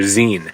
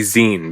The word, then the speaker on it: zine: But it's supposed to be Zen because it's short for magazine.